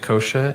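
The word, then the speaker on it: Niosia: Uh Wyatt Nosha N I O S I A. I would have butchered that.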